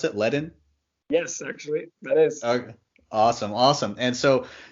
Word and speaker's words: Ledn: CSO of Leadon and is that how you pronounce it ledin yes awesome awesome and so you guys are